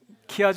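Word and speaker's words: χ: 구원의 서정에 대해서 여러분 이제 공부를 많이 하셨을 텐데 어이 키아 구조가 뭐냐 그러면은 그 하얀 글자로 제가 적어 놨는데 어 헬라어와 알파벳 어 영어로는 X 같지만 어 헬라어로는 발음이 키입니다. 키 그래서 X 형태로 이루어지는 그 구조를 키아줌 구조라 그래요.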